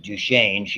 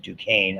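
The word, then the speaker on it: Duchenne: little love that so I pronounce it Duchain you pronounce it Dukane I guess like the university however just duchain muscular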